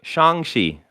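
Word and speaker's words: Shang-Chi: i'm gonna say ramble of shang no wait shang shi i nailed it i nailed it at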